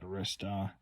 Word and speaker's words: Arista: arcd8192 it's Arista however you pronounce it I pronounce it Arista because you get all the so it looks like you got eight tracks on this CD from 1983 80.